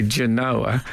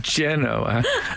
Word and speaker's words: Genoa: been to indonesia and they certainly don't say genoa it's mainly generally pronounced genoa and and who would